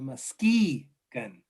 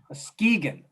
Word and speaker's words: Muskegon: Forgive me for mispronouncing the Muskegon, right? Muskegon.